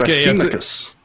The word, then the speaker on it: Thrasymachus: It's Thrasymachus. A Z sound.